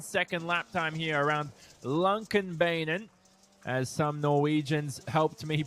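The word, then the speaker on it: Lånkebanen: a low 37 second lap time here around Lumpkin Beynon as some Norwegians helped me pronounce over the past few weeks hello rallycross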